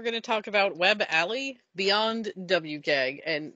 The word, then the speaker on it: a11y: So Alley gets you a way to take the 11 letters between A and Y and just be like, there you go, Alley. It's accessibility, but with only two syllables.